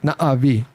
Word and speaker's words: Na'vi: You gotta say it like Na'vi.